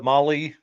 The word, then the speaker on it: Mahle: And for all the folks that are listening on the podcast, Molly is spelled Mahle.